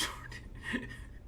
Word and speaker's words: Sade: It's pronounced Sade.